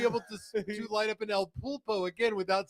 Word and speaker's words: El Pulpo: So, but I'm smoking, and I always mispronounce it, the El Pupo. El Pulpo.